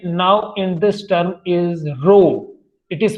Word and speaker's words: rho: and that constant now in this term is rho. It is pronounced as rho.